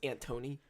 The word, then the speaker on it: Anthony: And I think It's pronounced Antony.